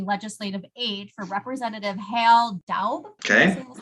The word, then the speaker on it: Daub: After a hiatus working as a legislative aide for Representative Hal Daub. Okay. That's how you pronounce his name.